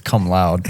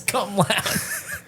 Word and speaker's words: cum laude: It's like I don't think it's come loud. yeah, it's cum laude.